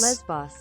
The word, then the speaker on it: Lesbos: Lesbos. That's how you pronounce it.